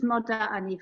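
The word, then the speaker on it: מוֹדָה אֲנִי: other thing for the women out there, for the girls out there, is we have a slightly different pronunciation at the beginning. It's moda'ani for women. It's moda'ani. For women, for girls.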